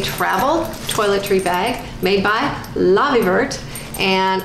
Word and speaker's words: Lavievert: it is a travel toiletry bag made by lobby vert and Lobby vert has I have heard it pronounced so many different ways but the proper